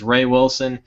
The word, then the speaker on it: Wreh-Wilson: how to pronounce this it's wreh-wilson which i guess is ray wilson pretty much is a